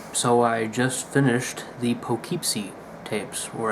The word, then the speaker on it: Poughkeepsie: I just finished the poke keep seat tapes where as they said it pull Kip see not spelled like it sounds okay start with the